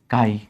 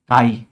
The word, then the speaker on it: chi: Represented by and pronounced as काई pronounced as chi काई। जैसे केमिस्ट्री होता है वैसे ही ये काई की तरह प्रोनाउंस करते हैं।